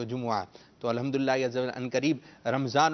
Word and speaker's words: جمعہ: جمعہ کرتے رہیں گے تو جمعہ بھی نہیں جمعہ، ٹھیک ہے، جیم پر بھی پیش ہے اور میم پر بھی پیش ہے تو جمعہ۔ تو الحمدللہ ان قریب